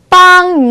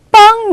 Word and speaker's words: 帮: 라고 얘기할 때 우리 빵이라는 단어 발음 기억해 주시면 돼요. 해볼게요. 我帮你 마 我帮你 마 입니다.